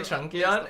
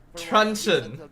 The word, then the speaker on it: truncheon: I don't want to ruin something, but is that how you say Trunkion? Isn't it pronounced like lunch? Luncheon? Luncheon. Oh. And I think Team Philippines can expect for this to be the case. Truncheon, you mean?